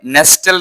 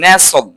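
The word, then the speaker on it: nestle: তারপরে এটা হচ্ছে নেস্টেল, নট নেস্টল, হচ্ছে নেসল, নেসল তো কি টিটা সাইলেন্ট থাকবে।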